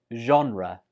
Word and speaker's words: genre: 15 is a common one when you're talking about movies, and it's pronounced as genre. Genre. That first sound, zh, is quite difficult for many students, so they change it to like genre or genre.